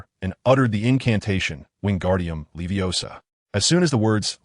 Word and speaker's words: Wingardium Leviosa: It is Wingardium Leviosa, with the gar part elongated and clearly articulated. Don't rush.